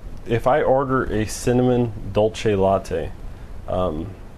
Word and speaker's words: dolce: See, it's dolce. It should be Italian pronunciation. So, you're wrong. Starbucks is always right. I like always repronounce it for him. I say dolce because that sounds correct, not dulce.